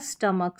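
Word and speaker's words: stomach: काई सी एच आई को काई क्योंकि सी एच को हम क प्रोनाउंस कर रहे हैं। तो ब्रोकाइटिस हो गया और ये हो गया स्टमक। स्टमक इसका ज्यादा यूज़ होता है। तो सीएच यहां पर क प्रोनाउंस हुआ है।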